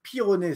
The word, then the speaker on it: Pyronnet: Moi, je m'appelle Pironnet, ça s'écrit P-Y-R-O-2-N-E-T.